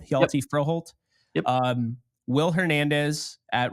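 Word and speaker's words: Hjalte Froholdt: Hjalti Froholt.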